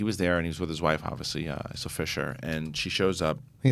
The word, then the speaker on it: Isla: It's Isla.